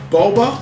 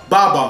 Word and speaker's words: Baba: The next play, Boba, how you say it? Baba, who's getting mad at me, messing his name up. I'm going to say it right.